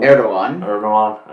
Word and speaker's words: Erdoğan: Is that how you pronounce his name? Erdogan, okay.